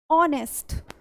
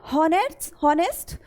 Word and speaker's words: honest: एक कॉन्सोनेंट है, ऑलराइट, लेकिन जब आप इसको प्रोनाउंस करेंगे तो हम यहाँ पर H को प्रोनाउंस नहीं करते हैं। ऑलराइट, यहाँ पे जो H है वो साइलेंट होता है और हम इसको प्रोनाउंस करते हैं ऑनेस्ट। Okay, it's नॉट हॉनेस्ट, इट्स ऑनेस्ट।